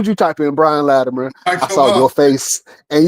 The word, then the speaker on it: Latimer: Latimer, which is what you say. Latimer. I say it with a it almost sound like a D.